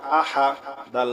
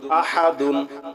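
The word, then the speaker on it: أحد: পেশ হু কুলহু আল্লাহু হামজা জবর আ হা জবর হা আহা দাল দুই পেশ দুন আহাদুন থামলে হবে আহাদ ঠিক আছে কুলহু আল্লাহু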